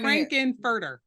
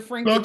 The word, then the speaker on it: Frank-N-Furter: I'm Frank-N-Furter. Dr. Frank-N-Furter.